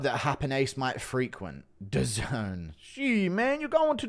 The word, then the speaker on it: DAZN: It's pronounced DAZN. Sounds like some hood nightclub that Happen Ace might frequent. DAZN.